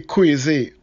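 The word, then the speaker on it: Croisee: vehicle and if you're going to the crazy please don't look for a street sign beginning with q it's spelled c-r-o-i-s-e-e sounds crazy yeah and where it's located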